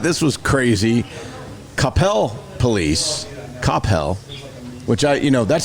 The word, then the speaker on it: Capel: and I thought this was crazy Capel police Capel which I you know that's how you pronounce it Capel Capel like Cel yeah Capel yeah so Capel